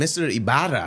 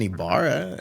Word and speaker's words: Ybarra: bill collector called they were like is m iara home I'm like this is iara yeah wrong hey you just say wrong number